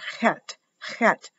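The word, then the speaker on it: Chet: is for the letter hat pronounced like in bach c h you have to roll your back your tongue and this is what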